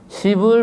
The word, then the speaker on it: 시불: 시불 보현 대행결 시불 그게 시방에 있는 부처님 이것도 발음을 잘해야 됩니다. 십불이라고 하면 부처님에 대해서 상당히 참 모욕적인 발언인데 그래서 이거를 십불이라고 안 읽어요.